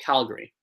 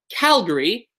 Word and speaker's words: Calgary: 3 syllables in both, but we say Calgary, but Alberta. So in Alberta, the second syllable is where the stress is. In Calgary, it's the first one.